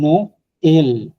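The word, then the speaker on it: Noël: ওকে, তারপর হচ্ছে নো এল, এটা পুরো উচ্চারণ করতে হবে, নো এল, that is a Christmas, নো এল।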